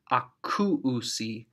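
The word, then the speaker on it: ἀκούουσι: And finally, they, the very easy to hear, akuusi, akuusi. Notice there's that diphthong back to back, oo, that goes back to back in the pronunciation.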